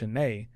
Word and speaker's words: Shanaé: was like yeah your your last name isn't actually pronounced it's pronounced shanay and is that a